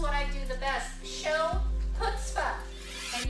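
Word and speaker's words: chutzpah: i do the best show put stuff and yes it sounds like it starts with an h but it's actually spelled with a c for those of you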